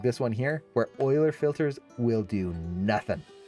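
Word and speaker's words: Euler: It's spelled uler but it's pronounced oiler based on a mathematician.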